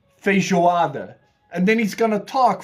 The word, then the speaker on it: Feijoada: Feijoada. Feijoada.